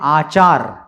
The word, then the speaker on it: आचार: ठीक है, ये है आचार और वो है अचार। ठीक है, फर्क समझे, शब्दों में, उच्चारण में फर्क समझे।